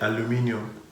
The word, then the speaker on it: aluminium: we pronounce it aluminium.